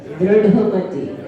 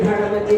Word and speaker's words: दृढ़मति: उनका सही उच्चारण है उनका दृढ़मति, ढा ढक्कन का है और दा में री है, रा नहीं है, तो सही उच्चारण है दृढ़मति।